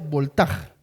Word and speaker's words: Voltaire: uno de ellos era se lee voltaire voltaire pero se pronuncia voltaj su apellido un filósofo